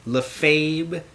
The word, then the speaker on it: Lefebvre: And today I have my friend Lefebvre. Did I pronounce that right?